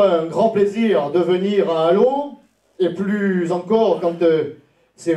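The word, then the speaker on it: Allauch: allô hein prend ch mais les journalistes parisiens disent aloche. C'est comme ça qu'on reconnaît qu'ils sont des journalistes parisiens. Mais c'est bien allô et les alodiens et les alodiennes euh qu'il faut prononcer.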